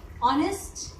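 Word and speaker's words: honest: Again ऑनेस्ट, ठीक है, H silent है और हमारी साउंड कहाँ से क्रिएट हो रही है? ओ से. बेशक फर्स्ट जो लेटर है वो एच है, बट आप इसको स्पीक करके देखो, एच यहाँ पर साइलेंट है तो साउंड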